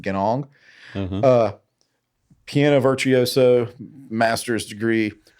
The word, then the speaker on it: Ganong: I'm pretty sure that's how you pronounce it, Ganong.